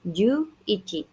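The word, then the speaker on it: 十一: kemudian angka 1 itu angka di angka satuannya dibacanya iki Jadi juichi jadi langka seberat Kemudian untuk eh angka 12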